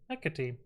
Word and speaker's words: Hecate: Yeah, Hecate.